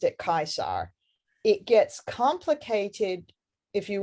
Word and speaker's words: Caesar: But for the classical period, basically, that C is a k, and the V is a w.